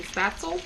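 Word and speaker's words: Spätzle: You mean spatzel?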